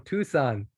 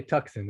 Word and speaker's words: Tucson: california michelle welcome from tucson i know not to say tuxen at least i know